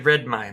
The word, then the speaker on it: Redmayne: Yeah, Redmayne, that's how you pronounce it.